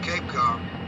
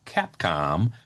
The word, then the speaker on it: Capcom: The problem is NASA used only the term Capcom, short for capsule communicator, not Capecom, ever.